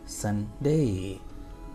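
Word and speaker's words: Sunday: that is सनडे संडे सनडे like cup फन सनडे सडे ट इज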